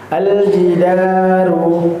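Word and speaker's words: الجدار: Aljidaru dalnya panjang ngih ya tidak ee tidak pendek. Jidaru banyak dua harakat fakana ya kafnya juga mengandung mad ya sebanyak dua harakat juga.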